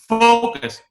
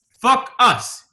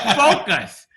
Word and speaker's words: focus: It's like, no, focus. fuck us. No, focus.